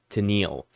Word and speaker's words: Tennille: I had to go and see the pronunciation of the So I got it right, Tennille.